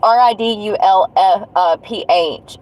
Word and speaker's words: Ridulph: Maria Elizabeth, and I think it's pronounced Ridulph. It's Ridulph.